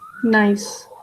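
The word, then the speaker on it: gneiss: it is pronounced as nice g is silent uh it is originally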